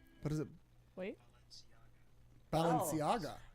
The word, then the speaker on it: Balenciaga: Balenciaga. What is it? Wait. Balenciaga. It's like La Cienega. Balenciaga. It's very much like La Cienega.